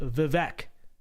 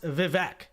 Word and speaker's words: Vivek: do about that buddy it's pronounced vivec it's a way that's the way it's literally the English letters say in at least the American accent right says Vivek I mean my my